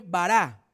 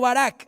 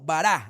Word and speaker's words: bará: una palabra hebrea que se escribe bará no barac no bará así B a r a con tilde la última a bará y es una